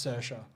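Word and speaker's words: Saoirse: she's her name spelt really strangely but it's pronounced sercia okay um she's extremely versatile uh any other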